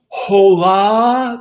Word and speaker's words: Hola: Hola to you. That means hello. The H is silent.